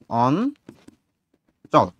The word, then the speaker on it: অঞ্চল: আবার যদি আমি এখানে বলি হচ্ছে অঞ্চল, অঞ্চল, এখানে তোমার হচ্ছে ইয় যুক্ত চ, যুক্ত বর্ণ আছে এইটা। এইখানে যখন তুমি উচ্চারণ করতে যাও, এটার উচ্চারণ হয় এরকম অন চল।